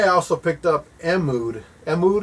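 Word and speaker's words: Mtume: Mood is how you say it, the guys that made Juicy Fruit, Mood.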